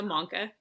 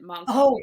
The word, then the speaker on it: Manca: So, just my last name is Mona. I just wanted to Oh, clarify that. Did I say it wrong? We're good. Yeah, I think you said monster.